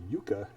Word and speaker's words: yucca: It's Y-U-C-C-A, two C's. Okay, that's pronounced yucca.